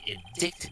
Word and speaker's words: indict: the prosecution wishes to indict miss was charged wait for some reason that's pronounced diet i love english i